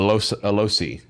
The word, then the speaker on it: loci: strong attunement to a loci that is also in this area. Oh man. You can feel it resonate. In fact, Remember what it rhymes with? Bow tie? bow tie. Loci. Loci.